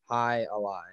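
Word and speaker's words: jai alai: It's two words. J-A-I-A-L-A-I. High a lie.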